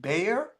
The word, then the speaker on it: Bayer: this German company called I think you pronounce it Bayer yeah like Bayer aspirin right yeah Bayer aspirin